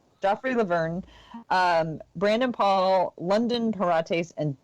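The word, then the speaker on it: Joffrey Lauvergne: Joffrey Laverne, Brandon Paul, London Parates, and Derek White.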